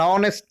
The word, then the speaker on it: honest: Examples: an hour, an honorable man, an honest girl, an air. You observe very clearly. An hour, H silent. An honorable man, H silent. An honest girl, H silent.